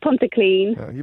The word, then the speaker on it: Pontyclun: Did I pronounce that correctly? It's Pontyclun.